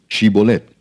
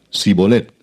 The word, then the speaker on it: Shibolet: Si él respondía, "No, entonces le decían, "Ahora pues di Shibolet." Y él decía sibolet porque no podía pronunciarlo correctamente.